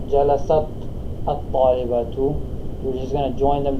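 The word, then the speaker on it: جَلَسَتِ الطَّالِبَةُ: To make it flow better, or to make it for the pronunciation, you're actually going to pronounce the ta as if it had kasra, okay?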